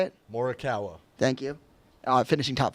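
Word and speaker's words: Morikawa: Morawa.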